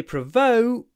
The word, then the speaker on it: provoke: brother when you say provoke um make sure you do a clipped oh provoke provoke oh oh oh it's clipped like oh oh oh oh provoke before the unvoiced C provoke don't provoke your